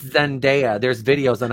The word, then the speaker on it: Zendaya: can eat my ass i've been saying zendaya and they're like it's zendaya there's videos on how